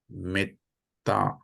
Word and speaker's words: metta: It should pronounce you as long, not long, short.